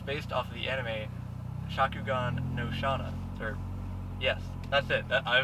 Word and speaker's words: Shakugan no Shana: this car is based off of the enemy Shakugan no Shana sir yes that's it I was told by the owner that's the way you pronounce it so we're good but the whole